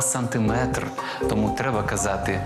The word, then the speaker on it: сантиметр: на останній склад кілометр так само не сантиметр а сантиметр Тому треба казати 2